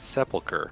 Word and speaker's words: sepulcher: right It's Tricky well we should all say is Sepulcher because that's how you say it I know I knew